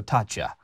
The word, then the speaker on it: Taccia: I'm going with an Italian pronunciation. So, Tatcha um is is the pronunciation that I have heard and that I'm going to go ahead and use.